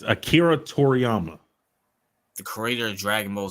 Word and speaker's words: Akira Toriyama: Akira to the how you pronounce that it's Akira Toriyama the creator of Dragon Ball Z oh RP